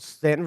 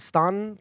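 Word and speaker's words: Staunton: in a town called Stanton, Virginia. Some people pronounce it Stan. Please don't ever do that. Really? Yeah, some people pronounce it Stan. No, don't do that.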